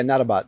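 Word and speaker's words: Nautobot: You know um to see the how do you say it the network to code nattobot or Yeah. Yeah. Natabbot.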